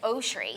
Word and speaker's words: Oshry: but we started like we say just cuz like I prefer and I don't know like an AA instead of an O yeah in general like that very uh my axe right so I'm sure it's like oshri so other people will